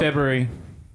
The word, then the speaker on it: February: it came it was february this year february february february yeah that's nobody found it wait it says f-e-b-r-u-a-r-e nobody pronounces that first r but everyone is wrong because you're supposed to you're supposed to all